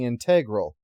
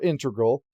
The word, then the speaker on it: integral: few of them being integral or integral depending on your preference either are acceptable pronunciations in this context anyway this rule doesn't apply to calculus though if you're finding the area under a curve you only say integral I'm sure many of